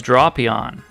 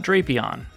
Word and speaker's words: Drapion: This is Drapion, not Drapyon.